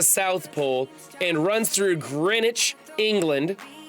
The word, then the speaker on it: Greenwich: Pole and runs through Greenwich England did you notice I didn't pronounce it green witch I wanted to but